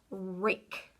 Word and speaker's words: rake: Okay, so my first word I want you to do is rake. R-A-K, silent at the end.